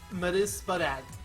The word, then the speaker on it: Mesprit: No, it's pronounced Mesprit.